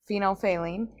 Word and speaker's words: phenolphthalein: say lean okay that's kind of how you pronounce it phenolphthalein and when phenolphthalein it's a liquid when you add it to